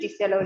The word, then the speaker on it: Liselo: I'm a research scientist at Liselo Labs, or as it's pronounced in Lesotho, Liselo Labs, and I'm based here in Hilton.